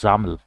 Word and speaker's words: XAML: to xml which is xaml uh you know pronounced as xaml right so uh all the windows applications the